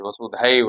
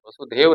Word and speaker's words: वसुधैव: तो हमें यहाँ उच्चारण में ऐ की मात्रा दिखाई दे रही है, यानी जो दो मात्राएं हैं ये ऐ का उच्चारण करें। वसुधैव है, वसुदेव नहीं है। बस हम लोग कई बार बोल देते वसुधैव कुटुंबकम, नहीं, वसुधैव कुटुंबकम। धैव, ऐ का उच्चारण होगा।